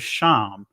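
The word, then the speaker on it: שם: someone's forehead right remember the word name in hebrew is sham i'm saying it from the ancient perspective pronunciation which which means reputation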